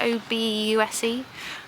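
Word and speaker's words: Obuse: car again we're in the little town of aboose or something like that it's pronounced OB us e um it's very cute they seem to have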